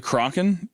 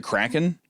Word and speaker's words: Kraken: I like that you mispronounced it on purpose. That was a good touch. What? Is this the Crocken? Crock Is it Kraken? I've never heard someone say Crocken.